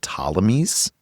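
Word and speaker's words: Ptolemies: He sent a group called the Talmies, spelled with a P and a T, Tammy, over to rule over Egypt.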